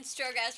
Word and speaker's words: Strogatz: We had Jen Stratotsky. Strogatz. I need to pronounce it right. Jen Strogatz from Mim and Ray, and we had Amy Berkowitz from Ready to Launch.